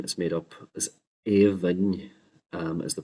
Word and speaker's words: Aoibhinn: AO at the beginning, except for it can be pronounced three different ways. A, E, or U, depending on the dialect area.